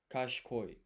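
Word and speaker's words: 賢い: So, you don't pronounce this i here. This is ca ca. This is she. That is cool. There we go. Kash koi.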